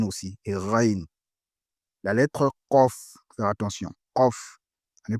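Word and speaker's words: ق: La lettre Kof, faire attention, Kof.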